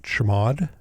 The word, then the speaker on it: chmod: If it doesn't, you can make it executable by typing chmod, or as we pronounce it, chmod 755, which makes it editable and executable for